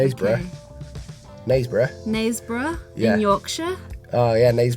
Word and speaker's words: Knaresborough: but listen the girl from Dallas is from nars borough is that how you pronounce X play nice breath nice bruh yeah Yorkshire oh yeah nice bruh yeah that's